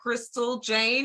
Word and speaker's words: Chrystall Jane: And we got Chrystall Jane in the house.